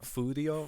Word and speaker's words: Furio: name's Furio. Furio. but they pronounce it Fudio.